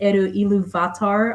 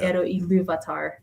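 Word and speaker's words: Ilúvatar: the pronunciation guide and he tends to emphasize the penultimate syllable no matter what. But even though he said eruvatar, a lot of times it is iluvatar.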